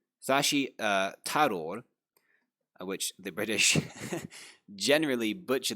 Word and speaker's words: Tharoor: I don't want to mispronounce his name. Shashi Tharoor, which the British generally butcher that pronunciation as Tharoor, but this is not actually the Devanagari pronunciation.